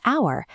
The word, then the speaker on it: hour: But with our, the silent H disappears, leaving only the vowel sound.